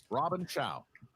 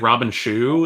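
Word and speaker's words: Robin Shou: in which 90s film i feel like christian mispronounced that first name isn't it i thought i thought it was like robin chu is it robin chao i think it is robin shaw okay he's dead if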